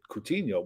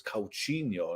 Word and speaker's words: Coutinho: was going mad because we were pronouncing it coutinho we were all wrong he was like it's calcino and all that our